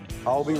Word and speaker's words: kalbi: Okay, so kalabi ribs? Kalbi ribs. Kalabi. Huh? I said it wrong? Cow. B. B. There you go.